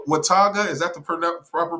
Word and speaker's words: Watauga: Watauga, is that the proper pronunciation? Yeah, Watauga.